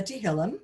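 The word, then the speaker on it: תהילים: So he starts studying different things, and he finds that as he gets to the Psalms, or we'll call them the Tehillim, which is, you know, how you say it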